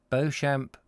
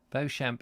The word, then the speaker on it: Beauchamp: mallet love those names beauchamp is probably beachum is probably pronounced beechum who is it beecham i expect it's a